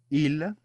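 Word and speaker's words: ils: Il. Il. Notice that the S is completely silent.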